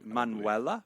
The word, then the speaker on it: Manuela: a muak yes yeah Manuel the emphasis is on the second cable the the emphasis is on the wrong the first name correct manuella man manella man yeah go ahead did